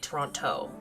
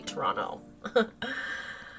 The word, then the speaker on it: Toronto: Although I just pronounced I pronounced it Toronto. It's supposed to be Toronto.